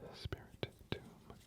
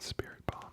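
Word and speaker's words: Spiritomb: Magnemite spirit tomb. Spirit tomb. Spirit tomb. That's how you say it. I've always said spirit bomb like my entire life. I swear it was spirit bomb, but I guess not.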